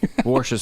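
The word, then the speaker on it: Worcestershire: Juice free hearts wax uh is pronounced worsher sauce.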